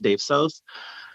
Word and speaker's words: DAVSOS: IG and Twitter is at DAVSOS, pronounced Dave Sos.